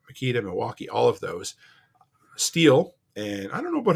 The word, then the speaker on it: Stihl: Milwaukee, all of those, Stihl, and I don't know about Husqvarna, but I'm familiar with Stihl or Stihl, depending on how you want to pronounce it. But the company is STHIL.